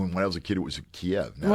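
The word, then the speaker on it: Kyiv: You know, I when I was a kid, it was Kiev. Now it's K. Well, yes. It's actually the way they say it. It's it's actually two syllables, but it's very subtle. It's Kiev. Kiev, you know.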